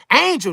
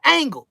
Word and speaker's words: Angel: A say my name is pronounced Angel. Damn it. Not angle. Angel Not Kirk Angel. Damn it. Uh uh. Uh uh. Like Angel from God.